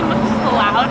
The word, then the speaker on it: MacLeod's: I just found out it's actually MacLeod Books, not MacLeod.